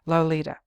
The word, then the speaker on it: Lolita: my sin my soul lo li ta he syllableizes here the tip of the tongue taking a trip of three steps down the palate to tap at three on the teeth low period Li period